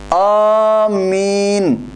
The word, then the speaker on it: آمین: ہے۔ اس کا تلفظ، لفظ آمین کا تلفظ الف کی مد کے ساتھ آمین اس طرح پڑھا جاتا ہے، اور حدیث پاک میں